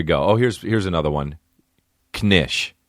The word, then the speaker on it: knish: here's here's another one knish nish you just pronounced the K knish what is it